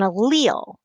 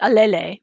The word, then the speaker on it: allele: a very specific thing it's an allele and that's how you say it allele i know it looks like a lele but it's not it's allele and that's a recipe